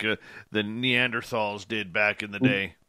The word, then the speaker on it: Neanderthal: grunt much like the neanderthals did back in the day just makes it feel so much better yeah yep i still pronounce the h in neanderthal i can't stand it